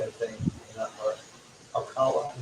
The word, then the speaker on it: Ocala: Ocala, you guys pronounce it Ocala, Florida.